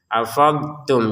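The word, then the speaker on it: أَفَضْتُمْ: Afadtum. Jadi kita jangan juga dimasukkan ke ta sehingga menjadi afadtum. afadtum tetap kita harus mengucapkan ee cara pengucapan d yang benar dulu baru kita mengucapin t-nya.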